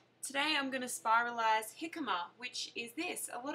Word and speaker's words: jicama: So some people will probably think it's called jicama because it's spelt with a J, but it's a silent J, possibly because it does come from South America.